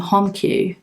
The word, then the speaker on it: HomiQ: It's by a brand named HomiQ. The letter I is silent.